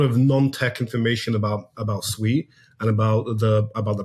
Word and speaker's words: Sui: come from yeah so it's pronounced sui as in you're saying sweet it actually means water